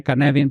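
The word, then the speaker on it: Cynefin: es el framework canvin se escribe cinef pero se lee canvin porque es es galés Es de Dave snowden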